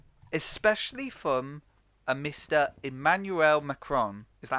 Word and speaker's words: Macron: been quite intriguing especially from a mr emmanuel macron is that how you say his name yes